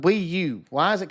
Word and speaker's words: Wii U: It's a Wii U. Which rhymes with PU.